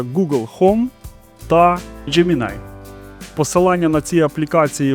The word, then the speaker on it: Gemini: Далі встановлюємо додаток Gemini. До речі, так правильно воно читається.